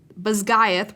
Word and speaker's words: Basgiath: Okay, I'm going to pronounce this correctly because I've been pronouncing it incorrectly. Basgiath War College, Violet included.